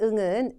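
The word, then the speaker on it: ん: 하이 응합니다이 응은 뭐냐 응은 여러분 일본어의 받침으로 쓰이고요 한국어로 니은이 미음이나 이응 발음이납니다 일본인한테 물었어요 응이 니은이 미음이 이응이 이렇게 물었을 때 일본인이 응와 응 다요 이렇게 얘기를 했어요 사실 응은 여러분이 발음하시는 가장 편안한 받침으로 발음할 때 그 발음이 맞습니다 자 그러면 받침이라 개념이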